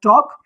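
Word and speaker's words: talk: ठीक है, यानी के एल को साइलेंट कर देगा। ऐसे यहाँ पर टॉक।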